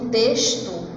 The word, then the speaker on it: texto: Quando eu pronuncio texto, tem um som de S. Não passa nem perto da letra X.